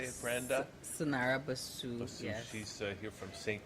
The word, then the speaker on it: Sanara Bussue: Sanara Bussue, yes.